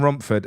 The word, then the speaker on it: Romford: few people saying that you're you're Gary from Romford uh in Disguise Charlie can you do me a favor can you just pronounce Rumford for me Romford yeah that's it